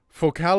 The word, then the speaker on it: Focal: Focal is French company. That's why it's pronounced like this.